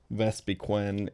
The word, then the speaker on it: Vespiquen: Mime, Vespiquen, and Caesar probably does the job, and then we can go back to Wormadam on Dratini.